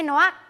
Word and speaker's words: Navoix: ok, poi c'era Adegliacco, DDA, Racchiuso, Reclus, Scluse, Ziracco Zerac, e Navoix. Noax, si legge la X? No. È Navoix?